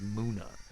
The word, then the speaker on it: Munna: I think Pokemon Company came forward and was like, hey guys, it's Nummel, and Munna is not Munna, is Munna.